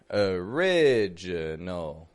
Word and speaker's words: original: biggest word in there original original well that o isn't sounding like an O right I'm not saying original original but uh uh so we found one schah okay a that I the